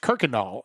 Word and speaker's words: Kuykendahl: And it is pronounced Kirkendall. And maybe it's not originally supposed to be pronounced that way, but 99 out of 99 people in Houston, I should say probably 100 out of 100, will say Kirkendall.